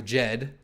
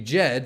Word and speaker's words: Djed: these sites, and then once we have the Djed, there I said it right for you, the Djed stablecoin, then that'll also be a lot of them.